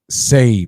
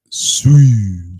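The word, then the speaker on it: Sei: Say, pronounce say, not sui.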